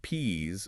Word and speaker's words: peas: If you are talking about the little green vegetable, the plural peas must be pronounced with a voiced Z sound at the end.